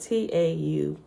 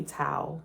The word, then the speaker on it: Tau: Te is spelled T-A-U. It could be Tau, right? In Hebrew, I think it's Tau, but I said Te.